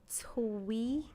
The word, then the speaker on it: Teague: I said sound it out, not spell it. Twee.